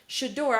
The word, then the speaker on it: Shedeur: Shedeur, I don't think they should have taken it out on Shout him.